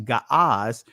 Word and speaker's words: Ge'ez: Notice how it's going to sound, because Ge'ez, or which they call it actually Ga'az, they call it now Ge'ez or Ge'ez.